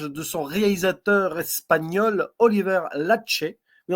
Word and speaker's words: Laxe: son réalisateur espagnol, Oliver Lache. Oui, on prononce bien Lache, et pas Lax.